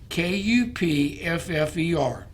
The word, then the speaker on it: Kupffer: Upon entering the liver, these same products can further activate special immune cells in the liver called Kupffer cells. And I'll spell that. Cup spelled with a K, Kupffer.